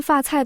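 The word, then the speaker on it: 发菜: 发财的发跟发菜的发读音一模一样，这一个谐音就戳中了所有人的心愿。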